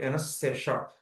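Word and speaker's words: anaesthesia: తర్వాత తర్వాత ఇది ఒక tough word ఎనస్థేషా. ఎనస్థేషా ఎనస్థేషా. Okay 5. ఎనస్థేషా. Okay ఎనస్థేషా. Okay yeah. దీన్ని ఎలాగంటే ఇవి 4 syllables. ఎన్ ఎస్ తర్వాత టీ స్ట్రెస్ ఏమో థీ ఎనస్థీషా. ఎనస్థేషా ఎనస్థేషా 4 syllables అన్నమాట.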